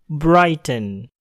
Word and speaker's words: Bridgestone: yaitu pada kata Bridgestone Bridgestone pada kata ini huruf r terletak di depan huruf Ih yang berbunyi bowl maka bunyi er dapat terdengar Bridgestone Bridgestone nah bagaimana dengan